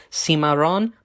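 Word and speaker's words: cimarrón: It's spelled like cimarron, like it kind of spelled like cinnamon, cimarron, but it's the accent is on the O at the end, cimarron.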